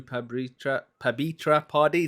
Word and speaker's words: Pabitra Padhy: Hello, welcome to FireDEV, and on this episode we are talking to Pabitra Padhy. Is that how am I pronouncing it correctly?